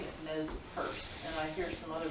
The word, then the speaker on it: Nez Perce: pierce. Yeah, Nez Perce. yeah. That's a pronunciation.